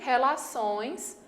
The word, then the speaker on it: relações: De fato, a sílaba mais forte é essa daqui, ó, impressão, a última, e relações, a última também.